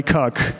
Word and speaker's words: CAC: This ratio written over here should be pronounced LTV divided by CAC.